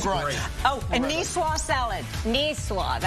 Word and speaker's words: niçoise: Niçoise.